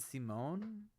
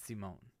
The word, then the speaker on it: Simone: In Zebra, I'm aware that Simon is typically how we would pronounce it, but in this character, they do pronounce it Simone. The characters have said our character's name, so that's the only reason I'm saying Simone.